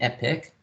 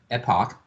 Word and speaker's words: Epoch: I mean so the the technical pronunciation you can it can be an epic or an Epoch right the best are